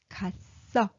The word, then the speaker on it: 갔어: So when you pronounce it, 갔어.